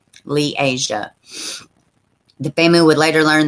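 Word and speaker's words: Li'Aziah: how uh let's see pronounce liasia oh okay liasia had died i'm glad they clarified that i wish every article would do that lee asia the family would later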